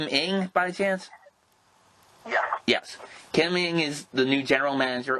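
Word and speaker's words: Kim Ng: the yankees organization miss kim how do i pronounce her name is kim ing by the chance yes kim ming is the new general manager of the miami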